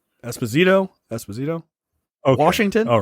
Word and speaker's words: Esposito: washington how do you spell how do you pronounce that that last name esposito esposito washington all right washington no no no